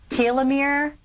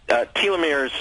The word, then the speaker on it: telomere: It had to do with, forgive me if I'm pronouncing the word wrong, but telomere? Is that? Telomeres, yes.